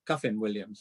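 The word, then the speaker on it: Kyffin Williams: I was there, called Kiffin Williams. Well, I believe he's got a knighthood now, but anyway, Kiffin Williams. He is, or Cuffin Williams, as I believe is the proper pronunciation.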